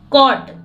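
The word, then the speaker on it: caught: नेट है जाल है कॉट कट में जी एच अगर टी के पहले आया हो तो हमेशा साइलेंट रहता है सी के बाद अगर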